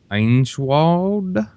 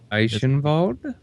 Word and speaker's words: Eichenwald: Einschwald? Eichenwald. It's Heinschwald. I have It's to remember. Weinschwald? It's Eichenwald. EI Eichenwald. I grew up in Germany. The Eichenwald. W. Eichenwald?